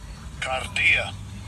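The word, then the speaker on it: kardia: So it is G2588 and I'll give you a pronunciation. Strongs G2588 Cardia Cardia.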